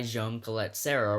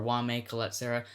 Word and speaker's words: Jaume Collet-Serra: of movies directed by Jaume Collet-Serra, or Jaume Collet-Serra. Here's the thing, when I pronounce that name, I pronounce it one of those two ways. Either I do the Jaume Collet-Serra or the Jaume Collet-Serra, but it's not gonna change.